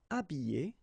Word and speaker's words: habiller: Habiller, habiller, déshabiller, déshabiller. Okay, so you can see that here, this H here, this letter is not pronounced, so habiller and then déshabiller.